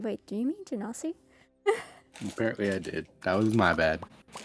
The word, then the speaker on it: Genasi: Yeah, one Genasi. is Ganassi. I had to stop and think for a second when you said that. I'm like, wait, do you mean Genasi?